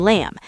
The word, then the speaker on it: lamb: And same with comb and lamb. Here's the pattern. If you see mb at the end of a word, the b is silent.